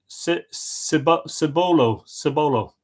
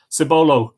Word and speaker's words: Cibolo: Erica Bow says, good afternoon from Kibolo, pronounced Cibolo, S-I-H, Cibolo, Texas.